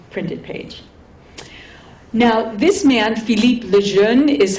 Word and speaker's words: Philippe Lejeune: Now, this man, Philippe Lejeune, is how his name is pronounced, and he's really the guru of autobiography.